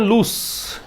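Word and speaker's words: loose: Next है to play fast and लूस। इसका pronunciation क्या है?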